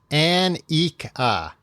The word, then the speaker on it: Annika: Hello, my name is Annika. Annika? You're doing a great job so far, Tom. Well, it looks like Annika, but then it says pronounce An-ik-a.